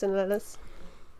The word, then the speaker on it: Ornelas: A lot of people add like the E, but it's just Ornelas.